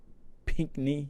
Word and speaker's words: Pinkney: Pinkney. That's how you say his name.